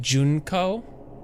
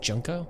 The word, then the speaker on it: Junko: yes yes continue yes say it like junco junco isn't it junko I mean junko junko